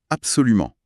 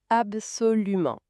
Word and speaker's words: absolument: On peut aussi utiliser le mot « absolument ». Il faut faire attention à bien prononcer le son nasal à la fin du mot. Absolument.